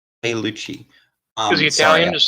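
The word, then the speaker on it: Pigliucci: Pagliucci. Pagliucci.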